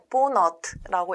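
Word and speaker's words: vonat: 기차 같은 경우는 헝가리어로 보너트라고 읽게 되는데요.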